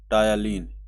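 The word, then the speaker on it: ptyalin: टायालीन, YA होता है। टायालीन, TYA, PTYA, P silent होता है, LIN।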